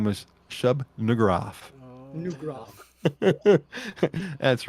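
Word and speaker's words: Shub-Niggurath: His name was Shub Nugraf. Oh, Nugraf. That's right on the edge. That's why I wanted to spell it first.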